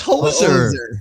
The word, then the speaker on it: hoser: Hoser? Hoser? Oh, it's Hoser.